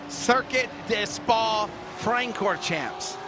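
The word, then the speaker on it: Circuit de Spa-Francorchamps: But we'll let Wesley give you the pronunciation, because good luck me trying to say it. Circuit des Spa Francorchamps.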